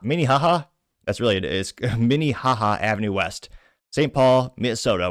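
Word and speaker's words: Minnehaha: The Avenue name 955 Miniha Minihaha that's really it is Minihaha Avenue West St. Paul Minnesota which I purposely mispronounces a slight to that we cocked state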